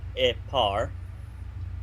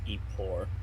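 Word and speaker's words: epor: e which is EP epar not eore that's how it's spelled but it's got e par for its pronunciation so it's spelled e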